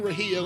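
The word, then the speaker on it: Rahija: Brian Rahia, let me spell that for everyone.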